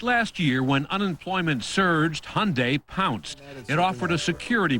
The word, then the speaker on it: Hyundai: It's Hyundai like Sunday.